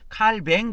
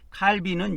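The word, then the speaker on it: Calvin: 그래서 이거 프랑스 식발음으로 하면이 사람이 칼빈이 프랑스 사람이기 때문에 칼뱅 그래요. 칼뱅하는 거는 프랑스식 발음으로 제가 알고 있고 칼빈은 영어식 발음입니다.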